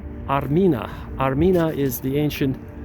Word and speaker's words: Armina: to the name Armenia Armenia is used to be pronounced or said Armina Arina is the ancient